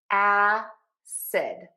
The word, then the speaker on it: acid: Let's start with our first word, acid. We're going to start with that really open a sound.